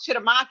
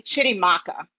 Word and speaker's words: Chitimacha: And so I label myself Chitimacha in the chat because I'm born and raised on stolen Chitimacha land, which is all of Southeast Louisiana, inclusive of New Orleans.